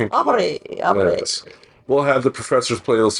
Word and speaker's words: Aubrey: The professor Aubbery. Now you're adding an additional syllable. Why not make it fancy now? I am Aubbery. Pink Aubrey.